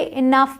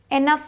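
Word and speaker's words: enough: आता है इ ठीक तो इसे इनफ बोलते हैं इनफ एनफ नहीं बोलते अब आते हैं टी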